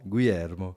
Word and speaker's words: Guilhermo: Aujourd'hui, on reçoit Guillermo, ou comment on prononce précisément ? Guillermo.